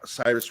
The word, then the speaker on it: Cyrus: Um Miley Cyrus Cyrus rhymes with a V-word.